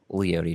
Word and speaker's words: Leotie: What the guy from KOSU always pronounces it Leotie, which I mean guess it's a that's kinda cool. traditional Native American name, so that might be the actual pronunciation, but Leotie just fits the vibe